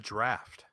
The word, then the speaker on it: draught: But they use it's spelled Draught, which I always understood to stand as draft.